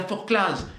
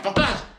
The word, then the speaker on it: Forclaz: Est-ce que vous dites le col de la Forclaz? Vous dites pas le col de la Forclaz. Vous dites le col de la Forclaz. Alors qu'en est-il? On ne prononce pas le Z, on ne prononce pas